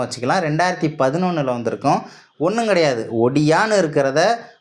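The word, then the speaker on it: Odia: உச்சரிக்கப்பட்டது அப்படின்றதை சொல்லி இருக்காங்க ஒரியா அப்படின்னு கிடையாது இனிமே ஒடியா அப்படின்றதுதான் இங்க வந்து உச்சரிப்பா இருக்கணும் அப்படின்றத மாத்தி சொல்லி இருக்காங்க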